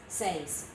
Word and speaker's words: seis: have them right here these are the one syllable besides the number ten these are all one syllable one dose this seis one syllable and when you write